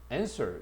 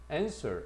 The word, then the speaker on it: answer: answer 이거는 강세가 앞에 있다. answer 앞쪽에 갑니다.